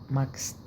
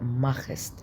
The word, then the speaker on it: machst: ساعات اللي تسيها اس نطق اكس. was machst du beruflich. was machst du beruflich أو was machst du beruflich. اللي تسيها ساعات لما بيبقى وراها اس نطق كي، فبتبقى مع الاس نطق اكس. ماكست بس في الغالب هتنطق ماخست عشان الخاء.